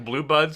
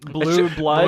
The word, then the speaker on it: Blue Bloods: Tommy Sell's been doing Blue Buds for like 20 years. Yeah. No one even knows what that show is. I even said the name wrong. Blue Bloods. Blue Bloods.